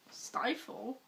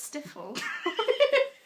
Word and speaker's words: stifle: Stifle? What did I say? Hey, what? Is that how you pronounce it? Yes. Stifle. I What thought the- it was stiffle.